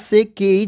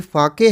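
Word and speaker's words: sake: पर ध्यान रखना बच्चों यह एस से केई जिसको अगर सही तरीके से अगर आप पढ़ोगे बाय स्पेलिंग के थ्रू देखोगे तो यह सेक है बट यह सेक नहीं है यह फाके है जापानीज एक ड्रिंक होता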